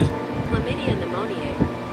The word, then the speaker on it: Chlamydia pneumoniae: Chlamydia pneumoniae. Okay, that is pronounced chlamydia pneumoniae.